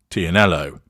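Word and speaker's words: Tignanello: wine the Tuscan red tianello even though the g is silent in it experts have long predicted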